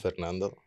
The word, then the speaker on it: Fernando: was too long is Ito no it's just Fernando oh okay I have a cousin that same